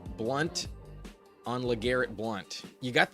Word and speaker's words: Blount: And uh it is spelled with an O. Blunt on LeGarrette Blount.